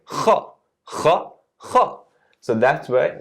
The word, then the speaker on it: خ: So it's not ka, it's kha.